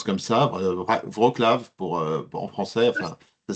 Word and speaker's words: Wrocław: Je crois que ça on prononce comme ça, Wrocław en français, enfin Ça s'écrit avec un L lavé, donc on prononce Wrocław.